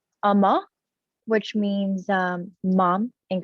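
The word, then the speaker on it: Umma: project so it's a korean film and it's pronounced amma amma which means um mom in korean and it's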